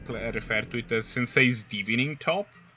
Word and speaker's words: Divining: It's divination, so it's divining. Oh yeah, right. Sensei's diving top.